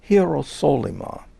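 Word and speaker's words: Ἱεροσόλυμα: text it looks like hirosolima that's the way one would pronounce it in in greek that is a later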